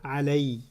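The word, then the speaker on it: عَلَيْ: When you attach it to the pronoun, it doesn't pronounce ala, it pronounces alay.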